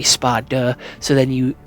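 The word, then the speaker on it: Sparda: I am specifically pronouncing the D when I say spa duh.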